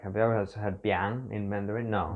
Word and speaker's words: biang: a weird spelling and it's a weird pronunciation too. Like the sound combination of this is very unusual for Mandarin. It's actually only this and some colloquial other Taiwanese word for that. It's called biang.